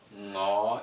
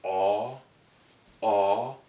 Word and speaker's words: 我: We have ngõ. Hold on for a second. Okay, so here we have ngõ. Ngõ is an NG sound, right?